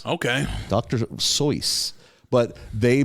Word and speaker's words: Seuss: pronounce his last name seuss oh really he if you asked him what's your last name oh pronounce like voice okay dr soyuz but they mispronounced it